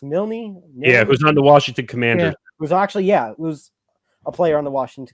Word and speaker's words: Milne: Is it pronounced Milne?